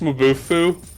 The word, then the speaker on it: Mabufu: pronounced Mabufu, but I can't help but think of Mabufu.